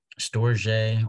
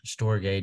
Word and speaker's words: storge: in the Greek language is storge or storge depending on how you want to pronounce it that's the kind of